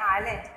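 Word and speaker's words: island: जिसको द्वीप बोलते हैं, आइलैंड, एस साइलेंट रहता है, आई लैंड प्रोनाउंस करते हैं, इसलैंड नहीं बोलते।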